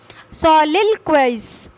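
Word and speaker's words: soliloquize: सोलिलोक्वाइज, सोलिलोक्वाइज, सोलिलोक्वाइज, इस टाइप से आप पढ़ेंगे।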